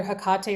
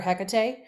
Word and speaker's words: Hekate: I feel like the most common ones are either Hekate or Hekate. And as we mentioned in the beginning, both are fine.